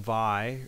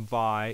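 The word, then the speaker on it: Vay: And the Sega CD also had this other game, Vi, like it's spelled V-A-Y. I'm pretty sure that's how you pronounce it.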